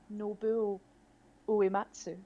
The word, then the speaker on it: Nobuo Uematsu: Nobuo Uematsu.